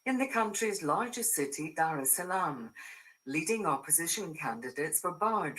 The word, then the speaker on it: Dar es Salaam: largest cities, which is Dar es Salaam. And then you see, is it true or false that the R in this word is silent? Do you know? It is true.